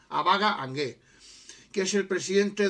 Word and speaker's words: Abaga: Abaga, es acento en la primera, Abaga Angué, que es el